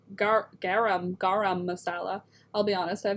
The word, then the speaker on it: garam masala: saying it right because i was for many years saying gram like g-r-a-h-a-m gram masala and then i realized it's not spelt that way so it's garam garam masala i'll be honest i